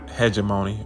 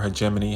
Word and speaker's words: hegemony: lose its hemony and when I say hegemony or hegemony however you want to pronounce it it just simply means